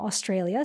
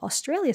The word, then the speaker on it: Australia: friendly correction that, you know, this is from Australia, so Aussie definitely being the right word and not Aussie, which I was pronouncing it before.